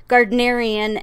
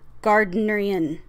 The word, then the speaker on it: Gardnerian: One said Gardnerian, and the other one was like Gardnerian. Gardnerian. So teach whatever, however you want to say it. I looked it up, and different sources had different pronunciations of it. So I guess whichever one you want.